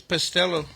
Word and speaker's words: Pastillo: I think it's Pastello. Pastello? Okay.